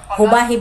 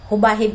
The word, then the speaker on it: Jubahib: na nandito ngayon jubahib hubahib po yanang pagpronounce niya is jubahib hubahib po kasi si Carlo